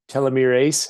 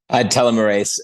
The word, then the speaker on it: telomerase: So it sounds like I've been really on track for myself for the last 20 years, drinking these telomerase. How do you say it? Telomerase.